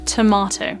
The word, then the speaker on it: tomato: the same diff so by nailing the word tomato you're incorporating both the long R sound and also this long o sound tomato the third and fourth